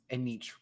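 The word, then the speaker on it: Anetra: Now spell it each. Okay, it's A N E T R A. Anitra.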